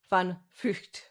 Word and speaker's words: van Vugt: So I checked with you the pronunciation of your name. I think I can approximate it. Van Vugt. That's very good. Yeah, it's a difficult name, but yeah, you're doing well.